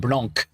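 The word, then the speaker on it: blanc: want to say s Blan you're not supposed to pronounce the C so let's try those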